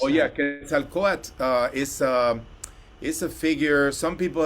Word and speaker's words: Quetzalcoatl: How would you pronounce Oh yeah, that? Quetzalcoatl is a figure.